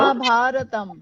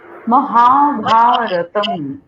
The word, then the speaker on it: মহাভারতম: মহাভারতম, মহাভারতম। মটাকে ছোট্ট করে, আকারগুলোকে বড় করে, আবার তমটাকে বড় করে, মহাভারতম।